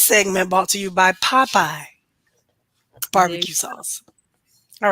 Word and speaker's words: Popey: I have to say it like that because people be like, "Oh, you got some of that Popeyes?" It's not Popeyes.